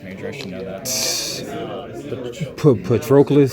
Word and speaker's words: Patroclus: How do you pronounce that? I'm an English major, I should know that. Patroclus, sounds like.